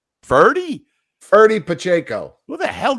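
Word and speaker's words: Ferdie Pacheco: Freddie Pacheco, wasn't it? Something like that. Of course, I butchered his name. Ferdy Pacheco.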